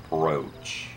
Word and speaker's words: brooch: It's pronounced like it has an A or an E in there.